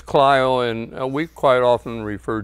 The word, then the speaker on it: Clio: often the people would say oh you're from cland and I says no we're from clo they would apologize for pronouncing it incorrectly but uhu uh I come